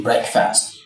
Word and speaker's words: breakfast: But, when you bring the two words together, the pronunciation changes. So, that's a break. Break is no longer called break in breakfast. So, the the marriage the marriage between the two two words change the pronunciation of of the word break. So, from break to break.